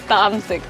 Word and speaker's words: Tamsik: I'm not feeling was it tumsik or Tamsik. tunsik? Tamsik.